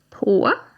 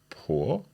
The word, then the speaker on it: på: So let's hear these three sounds again, - "På". - "På". - "Dåligt". - "Förlåt". Okay. So it's a longer 'å' sound for all of these.